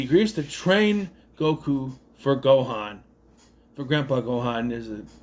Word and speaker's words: Gohan: It's Gohan.